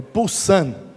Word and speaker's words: Poussin: Escreve Poussin, com 2 S, mas a pronúncia é Poussin.